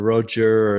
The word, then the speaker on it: Rocher: So I mean, it looks like it's spelled Rocher or Rocher or something. That's Rocher.